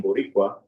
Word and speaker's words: Borícua: By invoking the title Ameri can and placing the accent on the I in Boricua, I draw on Laviera's